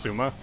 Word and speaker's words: Sima: Like, Sima is apparently supposed to be pronounced Suma.